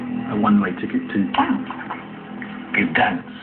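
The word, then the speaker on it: Gdańsk: Gdansk, it's pronounced. in Poland.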